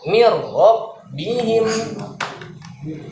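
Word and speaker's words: مِنْ رَبِّهِمْ: Sama pada kata mirrobbihim. Nun sukunnya ada tidak nih? Min rabbihim? Secara tertulis dia ada. Tapi secara pengucapan tidak ada. Langsung nunnya dimasukin ke ro.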